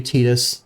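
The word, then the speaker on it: Tidus: know that they revealed his name is supposed to be tetus but I I I can't stand that I'm not I'm not called him tius I'm called him Titus um so like it just makes sense for me I I know that it's it's a language change and maybe they didn't intend this but like his element is water Titus like the tides it should be Titus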